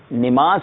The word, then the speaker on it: نماز: تو نماز جو ہے یہ تلفظ درست نہیں ہے. صحیح تلفظ کیا ہے آئیے دیکھتے ہیں اسکرین پر. جی نماز کی بجائے صحیح لفظ ہے نماز.